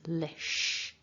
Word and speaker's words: publish: So putting that together, lish, lish. Make sure that you're saying sh at the end and not an s, not a s. It's not lis, it's lish.